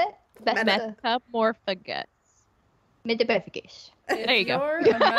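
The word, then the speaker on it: Metamorphmagus: Metamorphagus.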